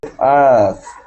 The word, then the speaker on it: asked: you said asked. Asked. It will be T. Yes, okay. So it's really, it's spelled A-S-K-E-D, but it's pronounced like a T.